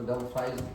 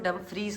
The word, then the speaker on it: Dumfries: पहले हम इसको डम्फ्राइज पढ़ देते, क्योंकि लिखा उन्होंने डम्फ्राइज ही है, बस प्रोनाउंस वो डम्फ्रीज करते हैं।